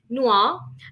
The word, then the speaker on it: noir: have for today right and uh noir that's pronounced as noir and this is a sub genre which is